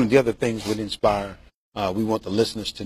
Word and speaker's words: Nspire: But first, Nspire. Now it is spelled N-S-P-I-R-E.